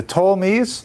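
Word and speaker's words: Ptolemies: You have this part here is held by the uh the Tolmies spelled with a P t o l e m- an uh and over here is held by the salucids.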